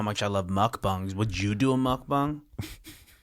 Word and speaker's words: mukbang: Mukbang, hey. The way you say it, mukbang. I didn't realize I was saying it weird. No, I think that that's definitely the right way to say it if you're saying it.